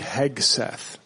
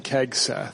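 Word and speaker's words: Hegseth: Um, quick correction. It's Pete Heg Seth. Oh, what did we say? Did we mispronounce it? I think he was saying kegth.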